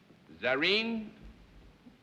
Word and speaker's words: Zarin: Zarin, is that right? Is it Miss or Mrs.? Mrs. And Zarin is the correct pronunciation of your first name.